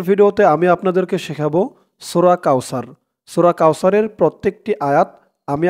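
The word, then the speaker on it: كوثر: সাউ র জবর র কাউসার এখানে দেখুন অকফা আছে তো এখানে অকফা করলে উচ্চারণ হবে করার কারণে র উপরে জবরটা সাকিন হয়ে যাবে আমার সাথে বলুন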